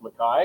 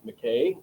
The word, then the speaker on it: McKay: it is uh pronounced mai which is the original Scottish Highland uh pronunciation for it. U most people will say McKay uh mistakenly including a number of people who have uh the last name.